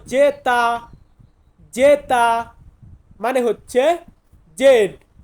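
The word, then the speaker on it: zeta: হচ্ছে ওয়াই জেড জেড জেড কে আমরা Italian ভাষাতে বলবো জেতা জেতা মানে হচ্ছে জেড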